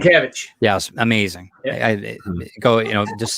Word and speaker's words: Sienkiewicz: you were just talking about, Bill, I can't pronounce last name. Sienkiewicz.